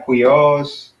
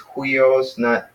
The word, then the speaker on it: huios: And even Huios, it's got the rough breathing mark, so it's Huios, it's not Huios, it's Hui with the H in front of it, so it's Huios.